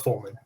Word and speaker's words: Follman: chris thanks for coming did we get the pronunciation your last name right right yes correct fulman there you go i i was i sometimes